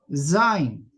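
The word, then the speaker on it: זַיִן: Esta consonante, ya como ustedes verán está medio inclinada, se pronuncia zin.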